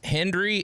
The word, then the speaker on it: Hendrie: uh Hey so it's Henry hn d r i e I always spell it because it's easy to sound like Henry uh March 15th everywhere